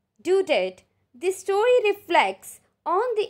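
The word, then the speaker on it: Daudet: last lesson is by author alphonse dudett right pronunciation is due date the story reflects on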